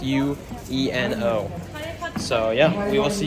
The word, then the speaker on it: Ueno: I think it's pronounced Ueno.